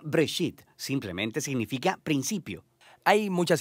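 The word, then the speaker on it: בראשית: Génesis viene de una palabra hebrea. Se pronuncia Breshit.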